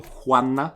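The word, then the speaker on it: stjärna: we are trying and the second example to it is like with the s j s k j s k j s c h is just pronounced as Hui so like kind of similar to polish so for example Juana is like a star and it is spelled with s t j in the beginning so but it's still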